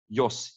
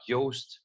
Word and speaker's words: Jos: Jos, yeah, you said that correct. Maybe you said a little bit like Joost, but that's fine as well.